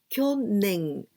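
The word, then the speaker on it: 去年: Kyo-nen. This nen, it means year. We can also pronounce toshi, but here we pronounce nen.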